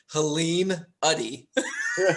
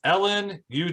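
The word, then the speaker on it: Helene Udy: So I end up saying Helene Uddy. Ooh. Yeah, it's Ellen UD.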